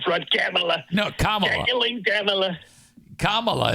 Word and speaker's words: Kamala: camea no kaming camea Kamala is how you say you keep saying you keep saying camela it's Kamala camela comrade she's a